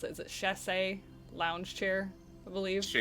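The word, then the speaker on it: chaise: kind of sit on this, how do you pronounce it? Is it chass lounge chair? I believe Shayes.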